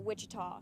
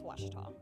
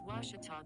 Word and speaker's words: Ouachita: for Washita Baptist University back in Texas everybody pronounces it Wichita but really it's Ouachita Washington how would you pronounce it wash your top it's Ouachita Baptist University get it right yes wash it